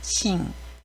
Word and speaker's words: 真: 음독은 싱이라고 읽습니다. 싱. 진의를 싱이라고 하는데요. 이때 응 발음을 조심하시기 바랍니다. 혀를 붙이지 마시고 콧소리 내듯이 싱이라고 해주시면 됩니다.